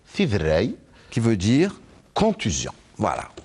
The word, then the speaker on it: Tiderray: Eh ben voilà, vous l'avez très bien prononcé. Tidrei.